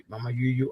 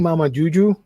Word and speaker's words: Mamayuyu: the story let's see Mama you you art is very cute I'm saying Mama Juju and that's not how you say it because Juju is like j instead of Y but Mama Juju sounds